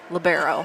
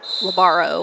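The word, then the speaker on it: libero: I don't know but it's labero not labaro or whatever I was saying so I hope I'm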